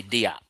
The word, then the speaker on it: Diop: I'm not French. I say Diop.